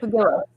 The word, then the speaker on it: pugilist: Pugilist.